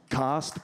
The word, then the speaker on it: caste: It's pronounced cost, but that's how they say it in England, and fuck that country entirely, so I'll just keep saying cast.